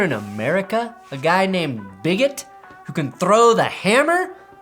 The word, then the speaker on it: Bigot: french olympic athlete quentin bigot who specializes in the hammer throw of course in france his last name is pronounced big o but here in america a guy named bigot who can throw the